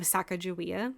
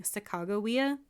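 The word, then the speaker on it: Sacagawea: yeah so we grew up hearing the name sakaia yeah the the historians in the documentary said there's multiple ways to pronounce her name no one knows for sure but the historians kept saying sagoya so that's how I'm going to pronounce the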